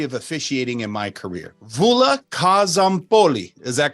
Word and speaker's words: Stavroula Kozompoli: Stavroula Kozompoli.